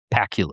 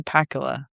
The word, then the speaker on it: Pakula: I used to just I grew up thinking his name was Pacula. After some time I'm like his name doesn't sound and rhyme with Dracula, right? Um, Alan J. Pakula.